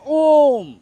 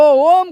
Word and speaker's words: ओम: अगर वे कहते हैं ओम तो ओम को तीन रूपों में लाना है जैसे अ उ म जैसे ओम बोलेंगे तो आपका यहां